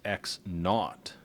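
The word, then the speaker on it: x₀: arbitrary position in space, the starting point is almost always indicated with an x and a subscript 0, pronounced x naught.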